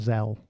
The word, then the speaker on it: Zelle: Zelle. Yeah, I've never... I'm trolling you a bit, but yeah. Excellent. Well done. You got me. It's pronounced hell with a Z.